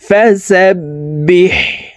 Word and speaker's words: فسبح: বা হা জের বিহ, হা হরফকে হলকের মধ্যখান থেকে উচ্চারণ করতে হবে, কারণ হার মখরাজ হলকের মধ্যখান থেকে হবে। ফাসাব্বিহ বিহামদি, বিহামদি রব্বিকা, রব্বিকা।